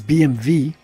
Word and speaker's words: BMW: Well, first of all, you're pronouncing it wrong. It's BMV. Jawohl. It's W.